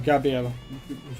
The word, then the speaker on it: Gabriel: Gabel Dr out or Gabriel really should say Gabriel because that's how it's pronounced in the anime uh G Dropout is